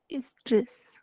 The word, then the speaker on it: oestrus: एस्ट्रस इज, ओ is silent, Estrus.